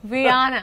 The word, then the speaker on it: Rihanna: I don't even know what how do you pronounce her name Rihanna Rihanna and just beautiful has a gorgeous but